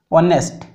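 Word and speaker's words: honest: ऑनेस्ट मान ये उच्चारणटा केमी आसूँ भावेल साउंड आसो ऑनेस्ट ओ भावेल साउंड आस ठीक अच्छे।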